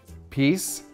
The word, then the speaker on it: peace: Peace, peace, piss, peas. Слово peace произносится через длинный звук E, и в конце вы узнаете, почему произносится именно с длинным звуком.